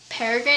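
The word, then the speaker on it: Peregrine: live in this house this paragan is how you say it parrin watches over them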